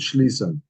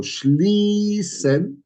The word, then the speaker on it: schließen: So here we got the schl, and then we have a long E. Okay. So that long E demands that I put the scharfes S. So schließen demands scharfes S.